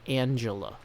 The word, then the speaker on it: Angela: Oh, apparently it is pronounced Angela. Okay, sorry, I wasn't sure. With a last name like, I thought you might be from Germany, like Angela Merkel. But apparently that is not the case.